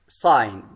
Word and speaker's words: sign: Sign. الجي لا تلفظ.